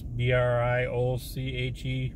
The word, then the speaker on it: brioche: It's got bacon, American cheese, shredded lettuce, pickles, red onions, tomatoes, Parmesan, peppercorn, ranch sauce, and I don't know how you pronounce this, B-R-I-O-C-H-E bun, brioche bun.